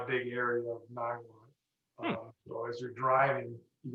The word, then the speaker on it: Niwot: Niwot. I'm overstressing it. Niwot. It's just Niwot.